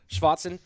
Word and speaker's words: Schwarzen: Am I hitting that Schwarzen pretty well? It's pretty good. Schwarzen? Schwarzen? Yeah, sounds good. A little more on the A.